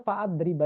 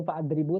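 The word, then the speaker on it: فأضرب: Nah, fa'adriba ini bacanya fa'adriba ya, bukan fa'adribu tapi fa'adriba.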